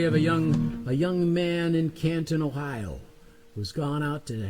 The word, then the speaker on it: Canton: Actually, if you're from Canton, it's pronounced Canton.